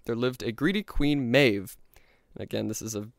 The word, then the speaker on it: Medb: And so outside Ulster, in the kingdom of Connacht, there lived a greedy queen, Medb. And again, this is a brilliant demonstration of how awful the Celtic writing systems are, because Medb is spelled M-E-D-B, which is just fantastic.